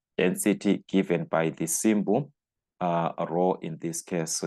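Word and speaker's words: rho: so that's the density given by the symbol Row in this case so it's just row like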